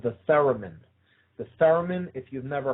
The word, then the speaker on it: theremin: that is centered around the instrument called the theremin. The theremin, if you've never heard of it, look it up. It's spelled T-H-E-R-E-M-I-N, theremin.